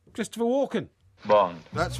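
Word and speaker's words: Walken: Max zorin that was the naughty guy Christopher walkon Bond that's not technically correct right right what did you say his name was it's right Christopher Walkin Bond that's right you said Christopher walk did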